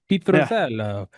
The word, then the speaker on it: Pitruzzello: Pitruzzello.